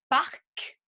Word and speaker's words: parc: Donc, par exemple, si je dis un parc, je prononce le C.